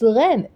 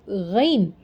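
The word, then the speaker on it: غ: Okay, so and we have ghain. Next is ghain. Ghan, ghan. In Urdu, it's ghan. In Arabic, it's ghain. Okay, there is the difference between Arabic and Urdu because it has it has more similarities.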